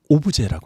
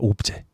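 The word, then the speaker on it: objet: 영어라기보단 불어인데 오브제라고 합니다. 오브제. 들어보셨죠? 예, 그때는 불어식 발음을 해서 T가 발음이 안 되고 그냥 오브제 이렇게 여기 C도 거의 발음이 안 되네.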